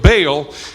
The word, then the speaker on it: Baal: following this character named ba'al or Baal as we pronounce it and the first thing